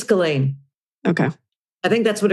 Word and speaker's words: Ghislaine: We started out with all these different pronunciations of Ghislaine Maxwell. I think it's Ghislaine.